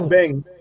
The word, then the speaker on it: abeng: If you go to Ghana right now and say abeng, they might say aben.